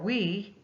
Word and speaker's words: oui: And this particular product, to even stand out even more, is for oui, is how they say it, O-U-I.